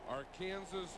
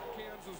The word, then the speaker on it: Arkansas: Yep, from Arkansas City, Kansas.